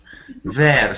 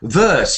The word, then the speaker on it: verse: that is this word how did you read this word there ver yes I hear it all the time this way but it's not ver who knows how to say this word it's about and do you know what it means verse yes verse the first verse it's